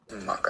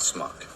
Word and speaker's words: schmuck: Schmuck I was. Schmuck. It's not smuck. It's schmuck. Smuck. Schmuck. Smuck. Now say shh. Shh. Now say muck. Muck. Now say shh and muck together real fast.